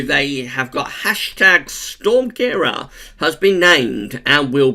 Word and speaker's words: Ciara: I pronounced this wrong in the 5-day forecast. I said Storm Caira. It's actually Storm Caira.